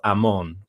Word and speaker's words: Amon: But the name is spelled Amon with a holem vav. There is an O quality vowel between the second and the third consonant.